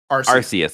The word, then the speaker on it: Arceus: Okay, RC car, Arceus.